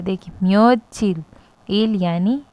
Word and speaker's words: 며칠: एंड उसके बाद म्यो, फिर हमने जो म्योत की जगह नीचे च आता है यानी हम उसे त प्रोनाउंस करते हैं तो उसे इल के साथ जोड़ दिया गया है। देखिए म्योचिल, इल यानी डे, म्योचिल